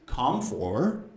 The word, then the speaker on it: comfortable: Put the first part together, so it's comfortable. Comfortable. Believe me, I hear students say comfortable. It's not comfortable, it's comfortable.